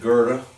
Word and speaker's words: Goethe: works of Goethe and you know it's spelled goe tha that was about you know eight years old and nine years old and I went to my father and I said how do you pronounce that yes and he said Goethe I thought was so